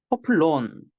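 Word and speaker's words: ὅπλον: 포플론 거친 거친 숨겨요. 이거 히읗 발음 들어갑니다.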